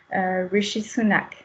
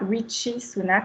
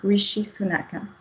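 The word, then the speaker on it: Rishi Sunak: En revanche, le S H se prononche donc notamment pour le nom du premier ministre britannique Richy Sunak et non pas Richiak qu'on entend régulièrement également. Donc Richi Sunak.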